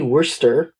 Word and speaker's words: Worcester: I feel the need to apologise on behalf of all English names for the fact that is pronounced Worcester.